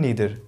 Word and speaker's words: neither: Negative में केवल हमारे पास दो ही वर्ड्स हैं, ईदर एंड नीदर, जिसको आप आइदर एंड नाइदर भी प्रोनाउंस करते हैं।